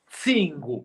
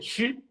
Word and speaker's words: Cingo: Cingo, pescoço. Cingo, yeah. Você dizer chi, tá errado. Chi não. Cingo. Obrigado, mano.